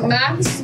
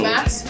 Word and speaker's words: MAC: So we're going to be using Max. Fix Plus. Did you even say it right? Yeah, oh. It's Mac, but then you need an X.